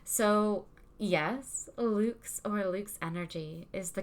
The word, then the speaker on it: LVX: in on the details why is lvx or lux this is the next question why is lv